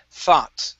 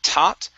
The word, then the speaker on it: thought: combining these here uh forget about that g so instead of uh thought okay thought only an ah sound here so kelly thought to herself kelly talk to you to herself okay give me a good th instead of tot it's f thought como theta right so kelly thought to